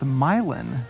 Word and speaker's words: Milan: the last video and they actually said it's pronounced myelin which i've always pronounced it milan i've always heard it pronounced milan but they were local so i guess they they know best so yeah milon milan either way how cool is